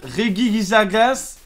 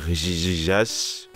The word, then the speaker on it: Regigigas: prê Fong cette fois-ci on prononce bien son nom ok je suis prêt Regigigas regigagas euh Regigigas oui rjjijas est donc